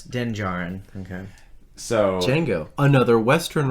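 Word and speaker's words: Din Djarin: doesn't make sense yeah so it's like django it's denjarin okay so django another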